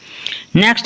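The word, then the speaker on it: knock: होती क्लियर है तो केन से अगर पहले लिखा हुआ है तो वो क्या होगा साइलेंट अब इन एग्जांपल के थ्रू हम समझना की कोशिश करते हैं नाक के नाक नाक होता है खटखटाना किसी का दरवाजा नाप करना तो नाक नहीं पढ़ेंगे क्योंकि के जो है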